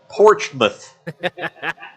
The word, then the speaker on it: Portsmouth: See, Roger's not too far from that place on the river called Portsmouth. Portsmouth. Yeah. Gotta know about Portsmouth. Portsmouth. Spelled Port's mouth, Yeah. but pronounced Portsmouth.